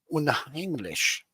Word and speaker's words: unheimlich: But you did manage to get out that killer video about the unheimlich itch.